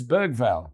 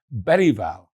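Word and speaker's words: Bergvall: season of Spurs and is referred to as Bergval by broadcasters for British TV. Anglicizing in many cases is the norm. But the PL's world feed to a much wider audience aims to stay true to the original. Lucas calls himself Bval and so do I and all the PL commentators.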